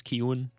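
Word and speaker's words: Keoghan: um baddie keewan ki kioghan that's how it's spelled but i think it's keown keane um i irish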